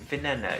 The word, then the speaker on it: Veneno: Is it veneno?